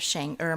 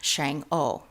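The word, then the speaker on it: Chang'e: Shang ER and it depending on your language whether you speak Mandarin or Cantonese you know the pronunciation of shanger might be slightly different because she's also in Cantonese notice Shang o um I I grew up with her knowing as as uh Shang o but nevertheless it's more shanger as we're adopting more of a pineur mandarin style of pronunciation and she achieved Heavenly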